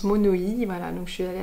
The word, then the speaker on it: monoï: donc c'est pas du monoï, on dit à la tahitienne, ça se prononce monoï, voilà, donc je suis allée à Tahiti et donc j'ai ramené voilà, ce flacon qui sent...